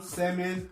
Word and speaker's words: salmon: On ne va pas prononcer elles dans talk, almond, salmon, palm, yolk, balm, walk and shark.